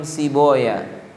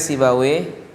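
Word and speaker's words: Sibawayh: tapi di dibaca lain misalnya Imam sibaw itu ahli Nahwu maka bacanya Imam siboya tulisannya sibawe Imam siboya ada lagi Imam mardawih maka bacanya Imam mardoya Nah sekarang sansaweh ini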